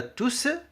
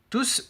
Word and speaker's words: tous: Il s'écrit tous au masculin pluriel. Il s'écrit tous au masculin pluriel. Le S final s'entend à l'oral.